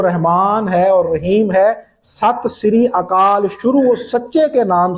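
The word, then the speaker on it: ਸਤਿ ਸ੍ਰੀ ਅਕਾਲ: کرتے ہوئے نہیں دیکھا۔ وہ کہتے ہیں نا ست سری اکال، آپ نے سنا ہوگا، یہ صحیح تلفظ نہیں ہے، یہ صحیح تلفظ اس جملے کا ہے ست سری اکال۔ اب ست سری اکال کا مطلب کیا ہے؟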